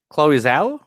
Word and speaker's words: Chloe Zhao: I want you to try to pronounce the director's name. Chloe Zhao?